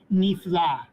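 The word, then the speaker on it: נפלא: For example, Joseph, in the next word, we pronounce it nifla.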